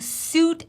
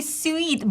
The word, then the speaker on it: suite: know it's crazy because for example in Russian language my native language we actually going to call it Su and we I I want to say sweet but it no it's sweet sweet I want you to look in the transcription and just embrace it it's w w long e eat sweet nothing like s sweet